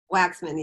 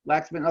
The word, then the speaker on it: Waksman: Waksman? Did I say it right? I don't know. Did you say it? Waksman? Waxman, yes. Waxman, okay.